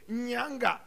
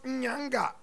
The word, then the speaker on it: Nyanga: Y-N-A-N-G-A. Nyanga. Pronounce Nyanga. Repeat after me, students. Nyanga. Nyanga.